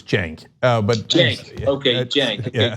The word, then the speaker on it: Cenk: And the C is pronounced like a J in my case, so it's Cenk.